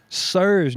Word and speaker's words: SiR: very well produced also sir's new album I think that's how you it's capital s lowercase i capital r I think it's just pronounced sir okay fire album really